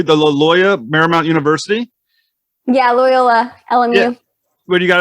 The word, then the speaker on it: Loyola: So when you eventually attended the I'm going to probably pronounce this one wrong too, the Loyola Marymount University? Yeah, Loyola, LMU.